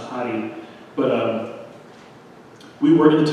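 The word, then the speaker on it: Radi: You know, I looked on Booking to see if we can get a picture of Doña Hari, was her name, R-A-D-I, pronounced Hari.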